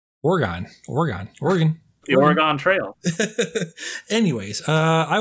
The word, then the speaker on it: Oregon: I did not also know that's how you pronounce Oregon. Oregon.